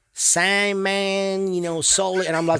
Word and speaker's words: Saman: I couldn't even recognize my name because in Farsi or Persian it's pronounced Saman.